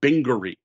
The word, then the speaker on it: Bingery: Now, my second Blue Orange game recommendation is a game called Bingery. Spelled like bingo with R-Y at the end.